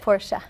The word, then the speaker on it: Porsche: I basically travel the country and I talk about the Porsche brand.